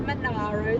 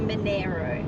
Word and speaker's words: Monaro: Not the Monaro, the Monaro.